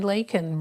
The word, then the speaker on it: Leikin: Hi everybody, this is Leikin, rhymes with bacon.